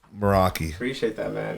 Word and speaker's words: Meraki: and and make sure I'm saying it right moroi yep that's that's a great name moroi appreciate that man it's actually a Greek word